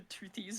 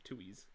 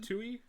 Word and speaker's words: Toohey: Yeah, Because I remember you called them like the Toothies or something. yeah. I thought it was Toothies, but no, it's a Tuies. That's Tuies. You don't pronounce the T.